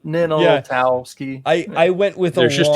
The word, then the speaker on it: Ninaltowski: Pretty much like it's spelled. Ninaltowski.